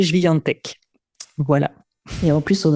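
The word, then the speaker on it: Świątek: Alors, si on prononce à la française, c'est Swiatek, Swiatek. Et bon, si vous avez envie de savoir le prononcer en polonais, c'est Swiatek.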